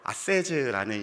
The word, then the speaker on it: 아세즈: 아세즈라는 시리즈입니다. 아세즈 무슨 뜻이냐면요, 여러분 Save the Earth from A to Z입니다. 토종 한국인의 영어 발음입니다, 여러분.